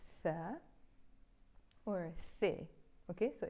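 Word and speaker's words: ث: And this one is our letter Thaa, or The. Okay, so it's Ba, Ta, Tha. Or you can pronounce them B, T, and The. So this is like a th, thunder, the word thunder.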